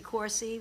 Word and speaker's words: Corsi: just change it as corsi with a hard C Sound and I also asked